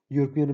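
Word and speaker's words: European: तो इसमें ए आएगा क्योंकि यूरोपियन में यू का साउंड किया जा रहा है।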